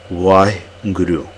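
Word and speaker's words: Waheguru: we're using the Gant why Guru okay that's the way we're going to pronounce it there many ways like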